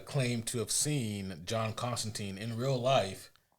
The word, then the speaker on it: Constantine: Uh, but Alan Moore has uh, claimed to have seen John Constantine in real life. Constantine is the way it's supposed to be pronounced.